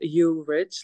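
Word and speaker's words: Jurič: exactly but because it's weird because it says you rich like people like people think that it's not pronunciation people think that it's like I'm saying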